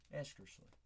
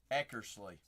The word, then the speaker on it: Eckersley: Esker Cole eskerly. Spicy. It's giving them aneurysm. He said it wrong.